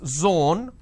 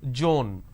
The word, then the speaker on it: zone: as well for example it's zone instead of saying zone they pronounce this as joan these are the mispronunciation